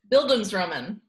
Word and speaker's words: Bildungsroman: joke okay the topic this week is bildungsroman exqueeze me it's spelled bi l tu ng s ro in